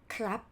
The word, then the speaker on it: ครับ: However, for this word, the vowel sound is R, not N, R. So this word, ครับ it's pronounced, follow me, ครับ not ครับ. No, swallow the ending consonant sound.